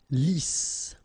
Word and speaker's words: Lisse: Double S here, so it's really a strong S. Lisse. Okay, don't insist on the final E. Lisse.